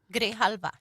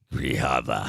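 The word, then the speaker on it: Grijalva: How do you say that? Grahalva. Grahava. Yeah, it was close.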